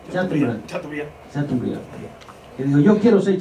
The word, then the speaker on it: Chateaubriand: cuando él leyó a Chateaubriand, ¿cómo que se pronuncia? Chateaubriand.